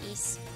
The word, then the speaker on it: Ys: I thought it was uh is before I've been told by you guys that it was ease.